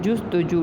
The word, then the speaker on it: جستجو: فضا اور جستجو, یہ پیش سین, جستجو.